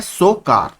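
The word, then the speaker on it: Tso Kar: पेंगोंगसो, और एक है सोकार। देखिए सो इस तरीके से लिखा जाता है, लेकिन जो टी है वो इसमें साइलेंट रहता है।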